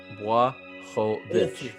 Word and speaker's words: Błachowicz: It's time to start pronouncing it the correct way. Yeah, Błachowicz.